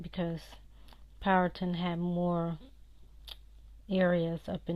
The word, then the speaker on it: Powhatan: and that's how the elders are not away pronounce it I know people keep saying Powhatan Powhatan it's not that's not Powhatan like Manhattan